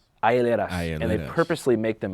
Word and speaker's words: hieleras: Hieleras? Hieleras.